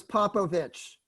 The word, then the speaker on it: Popovich: Okay, my name is Popovich. Basically, there are pauses. Pop, first syllable, O, second syllable, Vich, third syllable, okay?